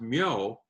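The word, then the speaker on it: 묘: The first character after the transition I talked about in one of my other videos is pronounced myo, and it means grave.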